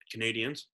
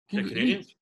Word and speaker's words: Canadiens: Canadiens. You said it right. Canadians?